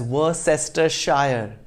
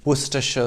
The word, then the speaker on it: Worcestershire: with the name spelt w-o-r-c-e-s-t-e-r-s-h-i-r-e do not pronounce it as were sister shire it's worcestershire perfectly logical right even